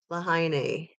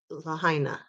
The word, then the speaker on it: Lahaina: whack job with that I think I said it right did I lahaine Lahaina I think it's Laina it's the simplest word I don't know why I Stumble over it a million times a day um you